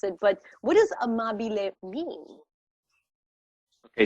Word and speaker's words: amabile: But what does amabile mean? Okay, so amabile, you pronounced it perfectly.